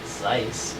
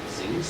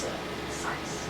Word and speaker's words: Zeiss: I remember there was this, it's pronounced Zeiss, but I was saying, I think Zeus. That's Z-I-E-S-S? Yeah. Yep. Yeah, Zeiss, yeah. And someone was like, hey, it's Zeiss.